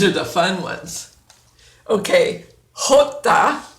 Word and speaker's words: Jota: the fun ones okay Jota is the J and you have to clear your throat hook hook that that's always fun